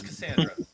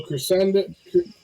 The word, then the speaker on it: Cassandra: uh my name is Cassandra hello crescendant Cassandra my name is hello Cassandra uh good try though chrysantra he's he's mispronouncing it and so she isn't